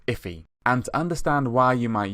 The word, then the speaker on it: IIFE: invoked function expression and it's actually pronounced iffy and understand why you